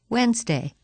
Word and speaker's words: Wednesday: but it's so dirty the letter D is silent in the following words read them as you repeat them during the pauses Wednesday grandfather grandmother grandchildren hankerchief